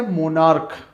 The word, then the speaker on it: monarch: हो रहा है, सी एच में च इसका प्रोनाउंसिएशन नहीं हो रहा है, ठीक है। उस तरीके से मोनार्क, यहाँ पर भी सी एच जो है एज ए के प्रोनाउंस हो रहा है, ठीक है।